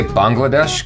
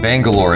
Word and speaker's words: Bangalore: I keep messing that up because I say Bangladesh because that's how I was told you're supposed to say it. Bangalore is how you say it.